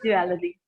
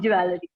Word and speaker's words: jewelry: So it is a very expensive word, and we pronounce it as jewelry. But it is not. But it is not jewelry. It is jewelry. Okay? Sometimes we found this word awkward, little bit awkward, jewelry, and we used to pronounce jewelry, but it's not jewelry. It's jewelry. Okay.